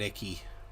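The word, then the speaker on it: Icke: people think that's something some people pronounce it ike but i call him david icky david i've heard it both ways i'm gonna stick with icky yeah this is the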